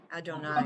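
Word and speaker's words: יהוה: Don't ever pronounce Yud Hey Vav Hey any other way. Yud Hey Vav Hey, always say Adonai.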